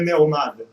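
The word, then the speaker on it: מעומד: Mas mesmo quando está escrito Meomed, é muito curioso que todo mundo lê Meomad.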